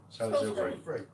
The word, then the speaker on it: Salisbury: Turn left the next roundabout and take the Saylis Ilsbury. I can't pronounce it. Salis Ilbury. Salisbury.